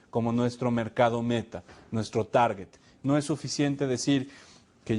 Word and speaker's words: Target: que tener claro que Target se pronuncia con g de gato Target mucha gente lo